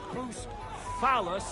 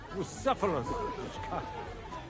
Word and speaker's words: Bucephalus: What kind of name is Boost Phallus, anyway? It's pronounced Bucephalus. See now, just mispronounce the name, and we're not talking about a horse, but a cock.